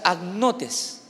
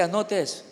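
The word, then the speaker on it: ἁγνότης: En el griego, la palabra pureza se pronuncia agnotes. Así que agnotes con H. A-G-N-O-T-E-S, agnotes.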